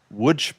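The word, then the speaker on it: Łódź: which is located in Wood, Poland, which if you look at the spelling, it says L O DZ. It is pronounced wood.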